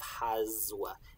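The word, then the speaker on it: haswa: We spell it with an S, but it sounds like a Z.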